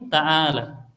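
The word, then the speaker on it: تعالى: Kemudian cari dari ala ya, fiilnya yang berwazan tafa'ala, yakni ta'ala. Ya. Kita cari di ala. Ini sudah kita tahu maknanya, anunya ya, apa? Bacanya, ya. Ta-nya fathah, ainnya fathah, la-nya fathah, adapun alifnya sukun.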